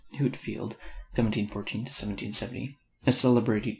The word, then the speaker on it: Whitefield: whitefield of the note george whitefield pronounced hootfield 1714 to 1770 a